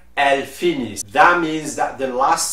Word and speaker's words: finissent: And for the last one, the ENT is not pronounced, it is silent like a regular silent E. So we will say ils finissent, elles finissent.